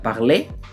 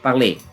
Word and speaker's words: parlé: Ah, parlé parlé. Olha que na pronúncia não tem diferença nenhuma, né?